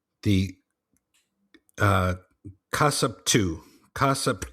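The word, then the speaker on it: kassapu: called back then um was called the uh casupu. Casup 2. And if but that's if the a female if the if a woman was a was a witch she was a casupu.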